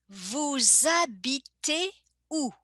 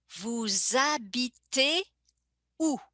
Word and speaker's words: vous habitez où: And you see in the pronunciation, I make a little connection between vous and habiter. I connect them in the pronunciation as if they were part of the same word. The H being silent. In French, we never pronounce the initial H. And the S becomes like a Z sound.